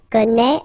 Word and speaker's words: connaît: Well, you pronounce these three forms the same way. Okay, connaît, and then connaît.